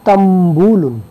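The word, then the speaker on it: تنبول: পান আরবিতে হলো তাম্বুলুন এখানে যদিও লেখা আছে তানবুলুন কিন্তু আমি উচ্চারণ করেছি তাম্বুলুন কেন কারণ হলো যযমযুক্ত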